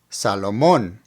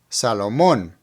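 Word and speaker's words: Salomón: finally we have Salomon as you can see there's an accent over the last o so put the the emphasis right there Salomon Salomon now let's repeat our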